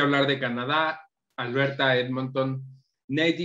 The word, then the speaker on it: NAIT: del Norte de Alberta por sus siglas en inglés, NATE, se pronuncia popularmente, así le llaman, NATE.